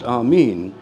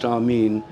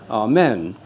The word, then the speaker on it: amen: And the way it's written is with the eta, the long E. So it's always been pronounced amīn. In the Greek, in the Orthodox churches, it's pronounced amīn.